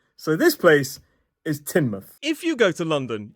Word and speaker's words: Teignmouth: and it looks like Tainmouth. Tain mouth. Now, we already know about that suffix. It's pronounced muth. However, this place is not pronounced tain, it's pronounced tin. So, this place is Tinmouth.